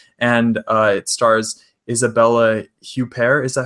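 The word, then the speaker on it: Huppert: foreign film French and uh it stars Isabella huper is that how you say her name yeah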